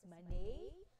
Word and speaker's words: Manet: This is a French base name or French name, that's why it pronounces like this.